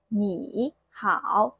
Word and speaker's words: 你好: We're going to make the first third tone character second tone. For example, hello, that's 你好, both third tone, right?